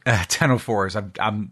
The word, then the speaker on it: ctenophores: So the sea is silent, huh? Fiction. No, I've never. I don't know this word. Ctenophores.